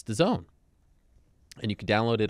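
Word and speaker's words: DAZN: d AZN personally I think it should be pronounced dasn't but it's the zone and you can download it on your phone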